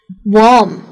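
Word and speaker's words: warm: काफी सारे वर्ड्स ऐसे हैं जिसमें ए लग रहा है। लेकिन ए का मतलब यह नहीं है कि मैं उसको अ की तरह प्रोनाउंस करूं। उसका मतलब है ओ वॉर्म वॉर।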